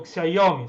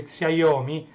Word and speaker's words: Xiaomi: Oppo, quelli Apple ovviamente, Huawei, Xiaomi, c'è scritto Xiaomi, si legge Xiaomi, anche se a me viene più facile leggere Xiaomi, ma è Xiaomi.